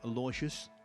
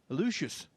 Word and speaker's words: Aloysius: name at the uso the american commentators were calling him lauritius we've been calling him aloysius apparently it's a mixture of the two it's lucious this is table two where